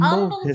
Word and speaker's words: Humble: of Houston called humble it's spelled humble with an H but the H is silent because it was a